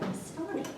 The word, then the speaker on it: Astani: If you know the clothing designer Armani, Astani rhymes with that.